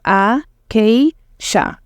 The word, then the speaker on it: acacia: The last syllable here, C-I-A, pronounced as sha. Okay, so we have a-k-sha, acacia tree.